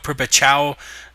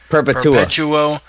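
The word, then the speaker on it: Perpétuo: The Fox Sports 1 prelims, we got Thiago Perpetual, or Perpetual, how the fuck is that pronounced, Chris Ramses? Perpetuo.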